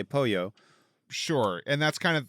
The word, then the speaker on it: pollo: You can't say like I'm going to have polo. You say pollo.